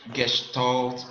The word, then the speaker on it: Gestalt: But it's pronounced Gestalt principle, right?